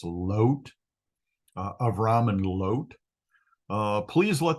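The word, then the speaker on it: לוֹט: So Avram said to Lot, and in Hebrew, his name is Lot. It's right over here in the Hebrew. This Holam Vav is pronounced as a long O, so it's Lot, Avram and Lot.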